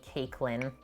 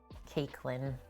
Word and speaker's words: Caitlyn: in age to me she had a really hard time pronouncing the t in my name so she always called me cakelyn i adore her love you janelle caitlyn i was like maybe